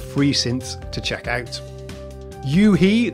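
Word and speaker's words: u-he: Yuhe, that's U-H-E, I think that's how you say it, have some really nice free synths.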